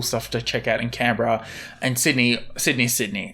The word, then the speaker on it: Canberra: Going to Canberra. Is that how you pronounce it? Canberra. Oh, okay, so it's going to be cold as well. Okay, going to Canberra because that's where my wife was born, so